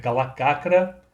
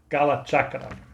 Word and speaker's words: Kalacakra: Tô falando aí do calachakra. Apesar de escrever cala cakra, a pronúncia correta é cala chakra, que lançou ali na